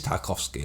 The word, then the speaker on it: Tarkovsky: to prepare because I'm not sure how you pronounce this director's name I think it is tarkovsky yeah it is tarkovsky yes and uh he's a Russian director and